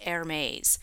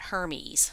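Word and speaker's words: Hermès: using seven day auctions and yes this is pronounced ermes not Hermes educating you guys on how to pronounce this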